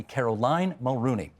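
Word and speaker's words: Caroline Mulroney: Can I thank Tanya Granick-Allen and Christine Elliott and Doug Ford and Caroline Mulrooney. Yes, that's how it's pronounced, everybody. Caroline Mulrooney.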